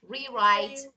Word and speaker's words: rewrite: Rewrite, rewrite, rewrite. I can't. Okay, listen. Rewrite. Rewrite. W is not pronounced. W is not pronounced. Just R. Rewrite.